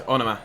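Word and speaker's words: Onomah: Here is Onoma. Thank you to all of you that told me I was pronouncing it wrong and told me how to say it.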